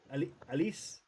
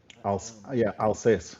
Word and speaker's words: Alsace: Blueco, is it Alice? Alsace, I think is how you pronounce it.